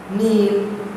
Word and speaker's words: kneel: Going on to the next page, pronunciation, silent K. The K is not pronounced. Repeat after your teacher. Knack. Please don't say knack. K is silent. Knack. Knob. Knee. Knife. Kneel.